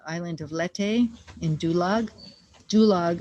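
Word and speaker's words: Dulag: of lette in dulog dulog rhymes with gulag for a reason we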